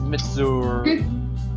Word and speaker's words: Mitsuzuri: Okay, apparently it's Mitsuzuri.